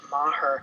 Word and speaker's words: Meagher: Novan, and All That Matters by Susan Meagher.